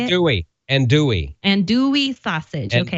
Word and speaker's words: andouille: Andouille sausage. Okay. Andouille, yeah. The L's are silent.